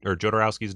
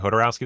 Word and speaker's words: Jodorowsky: I've been saying Jodorowsky this whole time, but I've heard a bunch of people say Jodorowsky, and I'm like, that also sounds right. Well, doesn't the J pronounce as an H in Spanish?